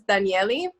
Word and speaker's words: Danielle: Actually, my name is Daniele, but it's spelled like Danielle.